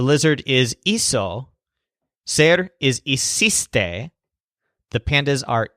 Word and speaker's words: hiciste: You might recognize something familiar about hiciste, hicieron, and hicimos. They're very similar to the equivalent words in ir's closet. Remember fuiste, fueron, and fuimos. Hiciste rhymes with fuiste.